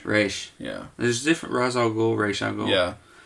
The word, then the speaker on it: Ra's al Ghul: call him Rach Rach yeah this is different Ra's al Ghul raesha yeah like even Liam Neeson in Batman